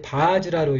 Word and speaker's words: वज्र: 그래서 이 바즈라 이건 이제 부일라지만 이제 바즈라로 읽으면 됩니다. 바즈라 그리고 이 즈라를 이렇게 일라를 합쳐서 즈라한다는 이합으로 이렇게 표현을 한 겁니다.